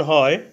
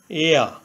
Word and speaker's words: heir: এখানে heir এর প্রথমে এইচ কনসোনেন্ট। এইচ এর উচ্চারণ হয় বাংলা হয়ের মতো। প্রথমে এইচ ধরে উচ্চারণ করলে হয় হেয়া, কিন্তু এইচের উচ্চারণ না হয়ে ভাওয়েল ই থেকে উচ্চারণ হয়েছে এয়া।